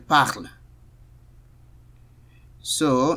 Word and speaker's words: parles: Tu parles. S is silent.